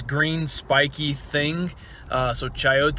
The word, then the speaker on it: chayote: with we pulled the what i called a coyote which i have some students to let me know it's pronounced chaote i don't i don't have a clue what